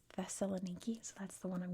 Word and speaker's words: Thessaloniki: So I had to double triple check in American English it is theelaniki.